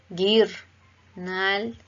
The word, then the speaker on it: guirnalda: guirnalda, guirnalda. Queremos que suene la I, hacer el acento en la I, guir. Nótese que la U no suena, pero al acompañarla suena fuerte, guir. Nalda, guirnalda.